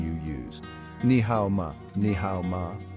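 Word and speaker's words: 你好吗: Ni hao ma, ni hao ma. How are you? Pronunciation tip: ni hao ma is pronounced with a rising tone at the end, making it a question.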